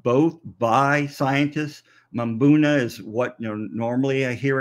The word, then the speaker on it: mbuna: by some people but mabuna is the normal um normal pronunciation of those African cichlids so you know is it tomato or tomato yes so the m is pronounced you're right Alicia um